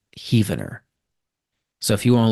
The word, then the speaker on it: Heavener: Nearby to Spiro Mound is Heavener, where more rooms were found. That reads like it's supposed to be pronounced Heavener, but I think the locals call that Heavener.